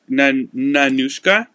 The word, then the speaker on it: Nanushka: a belt bag um I have a new nanushka that's how you pronounce it this is the nanushka belt bag